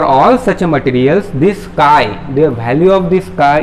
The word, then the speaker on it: chi: This is pronounced as chi.